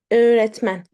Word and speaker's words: öğretmen: See, we do not pronounce it. Not eğlence, eğlence. Right? İğne, iğne. öğretmen, öğretmen, öğretmen, öğrenci, öğrenci, öyle, ağaç, ağaç.